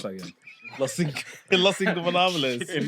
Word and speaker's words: Los Ingobernables: Lucha Bros versus Los Innobles of Japan. How do you pronounce that again? Los Ingobernables.